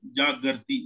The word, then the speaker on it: जागर्ति: गर्त में गिरना, गर्त मतलब ग, फिर आधा रा, फिर ता। और वो हाँ, आधा रा है जो त के ऊपर चढ़ जाता है, तो ये जागृति, उस तरह से बोला जाता है।